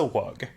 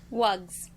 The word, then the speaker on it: wug: little blue bird and said, "This is a wug." And then showed them a picture of two of these bluebirds and said, "This is another one." Now there are two of them. There are two... Wugs.